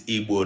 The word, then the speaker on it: Igbo: That you understand that it is Igbo, not Igbo. All right. So if you are having problem in pronouncing this letter, the way that it sounds,